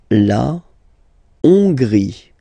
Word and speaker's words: La Hongrie: La Hongrie. So remember, H doesn't exist, so you don't pronounce it. So it starts with O-N, on, and then gris, final E, not pronounced.